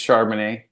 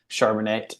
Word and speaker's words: Charbonnet: and if they did they said it wrong they say pronounce it a different way shonet or you know charbon it or something else and so I'm like